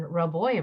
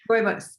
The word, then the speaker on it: rooibos: And then I just realized I've been saying roboy wrong. So I'm glad you said it, so I know how to say it right. Yes, rooibos.